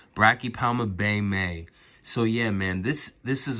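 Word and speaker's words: Brachypelma baumi: Yes, guys, I purchased my first Brachypelma Baymii. I think Brachypelma Baymii or Baymii. Yeah, man, I think it's pronounced Brachypelma Baymii.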